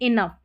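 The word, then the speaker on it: enough: अब 28 spelling pattern है ना, इसमें जी एच को फ करके पढ़ा जा रहा है, अभी पहले साइलेंट था, यहाँ पर फ पढ़ना है। लाफ, कॉफ या कफ करके भी प्रोनाउंस कर सकते हैं। इनफ, यहाँ पर जो है जी एच को फ करके प्रोनाउंस कर रहे हैं, जी एच को फ करके पढ़ रहे हैं।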